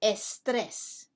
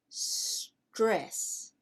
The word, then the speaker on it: stress: e in spanish e in english we don't say estres we say stress but in spanish it's